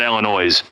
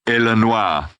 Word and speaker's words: Illinois: going to Chicago Illinois you don't pronounce the S on the end oh I know that yeah okay I didn't know if you knew that yeah you don't say the S it's Illinois not Illinois yeah or